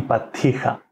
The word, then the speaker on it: πατήχα: Πατήχα, με δύο τάφε, πατήχα. Η πατήχα, ναι. Η πατήχα. Είναι, αυτή είναι αραβική λέξη. Το κατάλαβα εγώ γιατί είμαι υποψιασμένος, αλλά προφέρεται τα διπλά σύμφωνα διπλά, πιο μακρά, έτσι δεν είναι, σαν τα ιταλικά, ας πούμε.